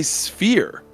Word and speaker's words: sphere: do you say it I say sphere one syllable versus two syllable I actually notice you say it that way like like when we started playing like a year ago but like I didn't yeah yeah you stayed with two syllables yeah do I see